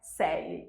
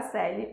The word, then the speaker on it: Coeli: Então, fique sabendo, a escrita é Coeli, para entrar no site é assim, mas a pronúncia é Celli, Celli a seu dispor.